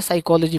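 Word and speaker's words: psychology: बेइज्जत उसको मत करो, उसको नहीं पता है, उसको बता दो कि भाई पी साइलेंट रहता है, साइकोलॉजी पढ़ा जाता है।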